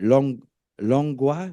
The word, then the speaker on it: Langlois: So can be reached at, is it Langlois? Langlois. Well, the S is silent in French, but yeah, it's Langlois with the S.